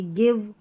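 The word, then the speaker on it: give: जहां पर जो है जैसे आपने गिव की स्पेलिंग लिखी तो जी आई वी लिख दिया। अगर आप बिगिनर हैं तो जी आई वी लिख देंगे। आपको ई लिखना पड़ेगा गिव में। यहां पर ई साइलेंट रहता है।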